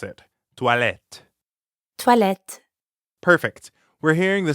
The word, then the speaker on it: toilettes: There's an S at the end of the word for bathrooms, even though you don't pronounce it. Toilette.